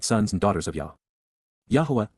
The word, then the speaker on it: Yahowah: Yahuwah, Yahuwah, the proper pronunciation of the name of Eloah, God as directed in